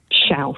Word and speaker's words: chaos: Yes, Schausch with like an SH on the end. Schausch. Schausch. Schausch. So I don't have the Portuguese. Well, it's a shame that, really, isn't it? Because it is spelt chaos for people who think I've taken leave of my semmers. Yeah. It's spelt chaos, but it is Schausch.